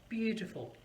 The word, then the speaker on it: beautiful: for example beauty full beautiful three syllables where is the stress i'm going to say this again beautiful you're beautiful yes the stress is on the first syllable bew and then t full are the softer one so it's really very